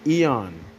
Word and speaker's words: eon: Ion, that's how it's pronounced in Greek, but in English it's Eon.